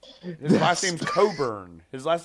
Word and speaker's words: Cockburn: Second, he said his original last name spelling is Cockburn, but was originally pronounced Coburn. So they got rid of the C and the K so that it wouldn't look like cock. But it was always pronounced Coburn.